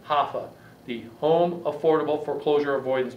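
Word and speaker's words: HAFA: believe it or not it's spelled h-a-f-a hoffa the home affordable foreclosure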